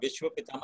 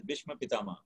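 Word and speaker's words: Bhishma Pitamah: If I have been mispronouncing, it's not Vishwa Pitama, it's Bhishma Pitama.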